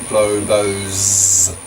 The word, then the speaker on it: globos: Its plural form is globos, pronounced globos.